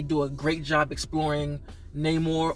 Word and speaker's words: Namor: a great job exploring Namor or nemour as he pronounced it like they they really